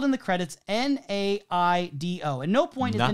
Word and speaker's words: Naido: the way I would imagine uh Japanese pronunciation would be naido he says NATO and I'm looking at